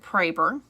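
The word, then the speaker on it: Proeber: And he pronounces it Praber. I don't know why. It's German. It's very German. He's like third generation on both sides of his family German. So I actually asked somebody in Germany how to pronounce it because it was supposed to be an umlaut. I don't know. Anyway, and they said Praber, like Schroeder, like Schroeder or Schrader, whatever.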